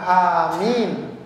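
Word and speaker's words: آمين: Ada panjang pendeknya. Yang benar ya panjang, amin.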